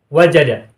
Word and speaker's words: wajada: Wawu ini adalah fa fi'il alias huruf asli, huruf pertama. Dan ini adalah rangkaian dari satu kata, wajada. Bukan huruf yang terpisah, merupakan huruf athof, bukan. Sehingga bacanya adalah manjadda wajada.